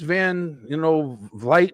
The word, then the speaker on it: Van Vliet: Bailey was on the Chris Van, Vliet. I always get his name wrong.